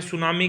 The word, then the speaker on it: tsunami: टी यहाँ पे क्या होता है? साइलेंट होता है।